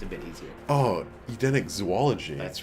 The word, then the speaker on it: zoology: Oh, Edenic zoology. That's right. You didn't even know you wanted that, did you? Did you know that there is no zoo in zoology? It's zoology. Everybody's learning something here.